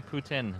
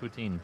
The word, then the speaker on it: Putin: Joke, but I've heard it's actually Putin, not poutine.